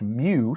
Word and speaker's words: mu: little Greek symbol uh Greek letter here is pronounced mu so we don't want to use M because